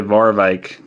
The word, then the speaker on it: Warwijck: How do you guys say the W sound in your language? They. It's probably Warwijk.